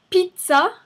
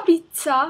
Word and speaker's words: pizza: Il y a aussi pizza. C'est pas pizza avec un T. C'est prononcé pizza avec un Z.